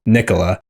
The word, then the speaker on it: Nikola: But then Vucevic one time at a press conference was like, no, that's not how you say it. It's Nikola. Nikola.